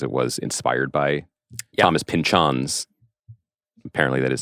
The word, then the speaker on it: Pynchon: The other thing, just to mention, One Battle After Another is inadapted because it was inspired by Thomas Pynchon's.